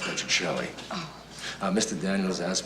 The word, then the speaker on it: Petrocelli: It's um it's pronounced Patrick Shelly.